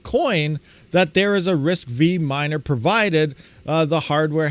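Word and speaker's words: RISC-V: here it says uh risk V pronounced risk five is an open standard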